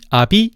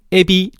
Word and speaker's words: 아비: 즉, 뜻기다, 어미, 아비, 죽이다, 속이다를 띠끼다, 애미, 애비, 쥐기다, 쇠기다 라고 발음하면 안 된다는 거야.